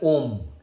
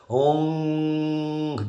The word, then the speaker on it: Om: But the fact is that the ma sound is the purer one, because that's the only sound that you can make with your lips shut.